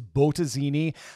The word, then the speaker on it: Bottesini: weeks by the way i'm pretty sure the correct pronunciation is botazini but i'm a midwestern